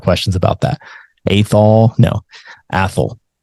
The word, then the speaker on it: Athol: Okay, Athol. Yes, that is how you pronounce it. Athol. We get a lot of questions about that. Athol. No, Athol. Think asshole, but take the S out.